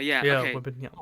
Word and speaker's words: Wembanyama: And if Yes, they and do get that, they're gonna get Victor Wembanyama.